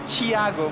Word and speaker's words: Thiago: It's Thiago, but in Portuguese the H doesn't exist at all.